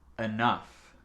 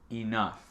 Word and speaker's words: enough: On peut prononcer le E comme A ou I, comme vous voulez. Enough. Vous avez répété? C'est le son F à la fin. Et le OU, c'est comme tough, c'est A.